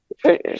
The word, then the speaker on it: Tchaikovsky: Tchaikovsky. Tchaikovsky, thank you.